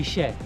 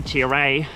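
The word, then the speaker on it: Ichère: So Taylor's informed me, I'm pronouncing this horribly wrong, but we're... how do you say this climb? According to Taylor? According to the French expert, Col de Ichere. Okay, so I've been saying the Ichere, which is probably very wrong.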